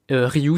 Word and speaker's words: Rioux: Il y a une personne qui utilise ça à merveille et c'est le personnage de Arnaud Rioux. Rioux, ça s'écrit R-I-O-U.